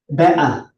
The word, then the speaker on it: better: Pag pronounce na yung word na better sa kanta niya, bea. Ano yun? Mababa. Ano ba yun? Bea. Waa. Get me a glass of water. Wala nang T, wala nang R.